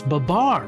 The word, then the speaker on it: Babar: And I'm like, I wanted to be like, it's not Babar, it's Babar.